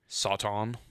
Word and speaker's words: Satan: said, and it says Satan, and phonetically, the reason I keep saying it like that is because if you look at the phonetic spelling of it, it says Sawtawn.